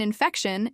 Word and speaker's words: infection: Mild rhymes with child, and the stress in infection is on feck.